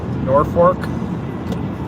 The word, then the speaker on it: Norfolk: Virginia and in Nebraska there's a town called that everybody calls Norfork but it's person it's it's spelled the exact same way as Norfolk but they pronounce it nor fork out here I don't know why